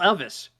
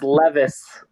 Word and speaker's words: Levis: you pronounce his name who the hell is Will Elvis Levis Elvis it's Levis I'll spell better next